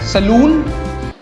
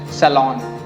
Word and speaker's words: salon: Next we have, हम जब बाल कटवाने जाते हैं तो उसको कहते हैं saloon. Saloon? नहीं. The correct pronunciation is salon.